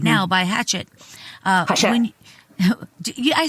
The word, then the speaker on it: Hachette: out right now by Hachette. Hachette. I said it right, didn't I? Hachette. Oh, Hachette, whatever. Hachette. Whatever. It's a Hachette. wow, everybody's going to say Hatchet, so fuck it.